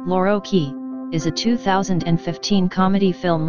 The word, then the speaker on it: Loro chi: Italian pronunciation, Lorochi, is a 2015 comedy film written and directed by Francesco Michicchi and Fabio Bonifaxi and starring Marco Cellini and Eduardo Leo.